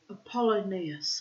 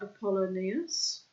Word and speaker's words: Apollonius: Yes, we're going to read now about Apollonius, I think it's pronounced.